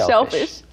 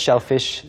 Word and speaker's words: shellfish: 이기적인 조개류라고 할 때, 뭐 이기적인 조개라고 할 때 selfish shellfish. 이기적인 조개가 물고기를 판다. selfish, shellfish, selfish 이렇게 하시면 Oh, 되겠죠.